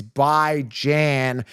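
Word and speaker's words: Bijan: pronouncing his name right it's by Jan as in by weekly as Jan as in Ran Tim's heard this a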